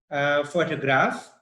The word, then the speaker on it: photograph: six number six says the stress is on the first syllable in photograph the second in photographer and the third in photographic okay so again the